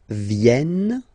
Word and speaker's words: viennent: Il viennent. So remember this classic ending ENT for the third person of the plural is here, but phonetically doesn't exist, so you don't pronounce it.